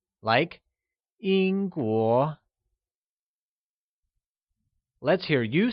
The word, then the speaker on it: Yīngguó: English people translates to Yīngguórén where,Yīngguó is pronounced with a high level tone on the i and a mid rising tone on the o, like Yīngguó Lets hear you say Yīngguórén Good!